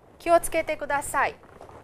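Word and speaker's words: 気をつけてください: It is pronounced and said as kiyotsukete kudasai. Simply kiyotsukete kudasai, very, very fast, but it is written as kiyotsukete kudasai. Please remember, it's said very fast, kiyotsukete kudasai.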